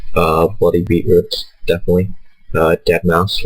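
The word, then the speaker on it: deadmau5: bloody beatroots definitely uh dead mouse which is spelled dead Ma ma5 and then the other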